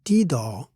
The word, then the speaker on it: ti: In English, however, we say T-do instead of C-do in the end. This is probably because we also have another version of naming notes starting with a C equivalent to do, which could confuse the sound of C equivalent to B or T in the standard solfege naming.